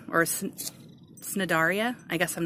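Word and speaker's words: Cnidaria: i dar IA and i guess I thought the C is silent and that's the phylum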